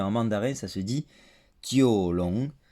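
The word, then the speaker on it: Jiulong: Alors je ne connais pas la prononciation en cantonais, mais en mandarin ça se dit Jiolong, Jiolong.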